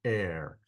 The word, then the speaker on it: Er: son and called his name uh it's actually pronounced a like with a long a sound so his name was called air she conceived again and bore a son and